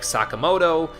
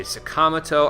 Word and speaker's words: Sakamoto: They do the same thing with Ryuji's last name, where I would be like Sakamoto. They say Sakamoto.